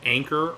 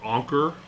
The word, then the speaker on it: Anker: They are Anker or Anker, depending on your pronunciation.